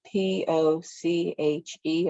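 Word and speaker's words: poché: wall spaces is called poche it's spelled p-o-c-h-e apostrophe so it's poche and it's just the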